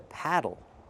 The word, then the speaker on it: paddle: And this is a paddle. The pronunciation is different. We use the a sound like black cat. Paddle.